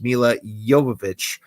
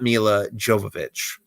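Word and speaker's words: Milla Jovovich: And The Fifth Element was the movie that introduced us to Mila Jovovich. Yes, it is a soft J. It is pronounced like a Y, not like a J. It's Mila Jovovich, not Mila Jovovich.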